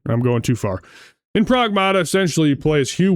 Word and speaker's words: Pragmata: then gets rescued by this Prag or Pragmata, is how they pronounce it in the game. Pragmata.